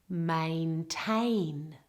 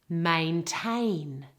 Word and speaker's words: maintain: There are two A vowels in this word and the emphasis and stress is all on the second syllable. Have a listen. Maintain. Maintain.